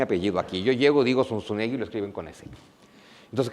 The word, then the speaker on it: Zunzunegui: Yo ni siquiera sé pronunciar mi apellido aquí. Yo llego, digo Sunsunegui, lo escriben con ese.